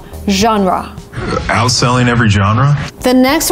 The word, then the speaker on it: genre: I know a lot of people say genre, which is, again, kind of logical when you try to read the word, but because it's a foreign word, we say genre, genre.